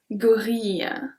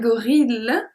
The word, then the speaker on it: gorille: So here I pronounce I-L-L-E, I pronounce like a long I. Un gorille. We don't say un gorille.